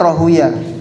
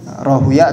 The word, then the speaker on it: Rahuyah: Nah, dalam ulama hadis, nah, cara bacanya Rahuyah. Ada juga yang membacanya Rahawai, Rahuyah atau Rahawai.